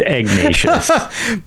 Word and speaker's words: Ignatius: scroll given to him by a priest, Father Aknatius. Is it Ignatius? Ignatius. I It's think not a it might Q, be it's a G. Ignatius. It's Ignatius. Yes. Okay. So Yeah, I think it's pronounced Ignatius.